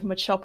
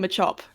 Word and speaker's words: Machop: I have been another image of Machop with a tail.